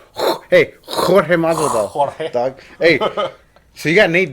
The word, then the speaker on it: Jorge: All right, then he's George Masvidal. Yeah. Against Nate. But he's George actually But Nate. it's spelled with a J. Hey, Jorge Masvidal.